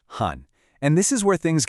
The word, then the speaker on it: 寒: Next is this one, han, pronounced han.